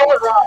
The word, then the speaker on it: Rollin' Raw: It's Rollin' Raw, by the way. You've all been saying it wrong the whole time.